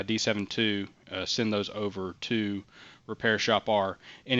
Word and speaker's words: RepairShopR: RepairShopR is how I pronounce it. A hard R at the end there.